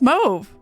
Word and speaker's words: Mauve: I'd actively remind myself it's pronounced Move. That was Mauve.